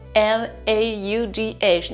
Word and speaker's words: laugh: On rigolait, du verbe to laugh, L-A-U-G-H. Ne vous faites pas avoir par la prononciation qui est différente de l'orthographe. Rigoler, c'est L-A-U-G-H qui se prononce laugh.